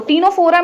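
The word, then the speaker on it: Ctenophora: ठीक है, अब देखो टीनोफोरा में टी से नहीं स्टार्ट होता है, सी से स्टार्ट होता है, सी साइलेंट होता है, तो इसको हम लोग कहते हैं टीनोफोरा।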